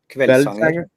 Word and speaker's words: Kveldssanger: Kveldssanger.